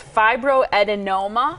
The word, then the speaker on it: fibroadenoma: for it so I'm going to try to pronounce this word it's fibroadenoma correct okay a fiber adenoma is a benign